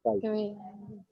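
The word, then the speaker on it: chi: जी मैं बता, इसको चाय टेस्ट तो मैंने कभी नहीं कहा, आप चाय तो मैंने पी ली है। इसको काई काई प्रोनाउंस करते हैं काई, ठीक है।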